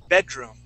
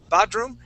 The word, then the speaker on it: bedroom: on the word bed bedroom okay here you had sort of a a uh you were saying uh B badroom it was more b badroom instead of be with a short e sound bedroom when you said